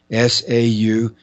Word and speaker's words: Sauder: The last name is spelled Sauder. There's no N. Sauder.